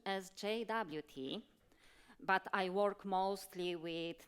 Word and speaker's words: JWT: the question to you how do you pronounce it jot raise your hand um only a few JWT yeah yeah I'm relieved that also native speakers pronounce it like JWT okay I will use this pronunciation during the presentation then uh so Jason